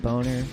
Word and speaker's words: Bogner: I believe that his guitar amp that he was using was called a Bogner, B-O-G-N-E-R. I prefer to think that it's pronounced Boner, especially if the band is called CUNTS.